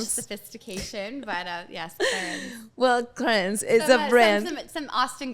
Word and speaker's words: Clarins: Clarins. Yeah, Clarins. I mean, like, I feel like some people say Clarins, and I'm like, I wish I had that, like, French sophistication, but yes, Clarins. Well, Clarins is a brand.